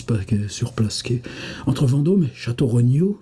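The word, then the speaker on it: Château-Renault: surplqu entre vandô et château Renot qui se prononce chnao dans la langue des postillons c'est bien imité par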